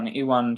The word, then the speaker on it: Iwan: And Yeah, Yvonne, is that his name? it's Iwan Charles. His name Yvonne. is. Okay, okay. Yeah, yeah, Well, yeah. I definitely mispronounced that in the award.